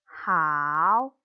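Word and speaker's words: 好: Ditambah dengan nada 3 yang diayun menjadi kata hao, artinya bagus. Satu contoh lagi, shengmu-nya adalah huruf Q yang dibacanya C dengan udara.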